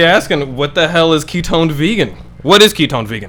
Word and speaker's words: KetonedVegan: Ketoned, because I've been saying toned, but I'm like, Yeah, KetonedVegan.